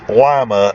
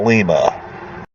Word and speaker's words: Lima: interstate 75 near llama Ohio and it is pronounced llama not Lima okay real quick you know I'm always trying